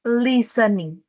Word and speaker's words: listening: Next time if you say listening, do not pronounce the T. It's not listening, no. It's listening like that.